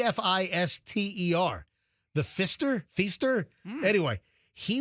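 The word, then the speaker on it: Pfister: hotel because I guess they stay at the Faster. Not the Fester. The Faster. The Fister. The Fister. P. The Fister is a different hotel altogether.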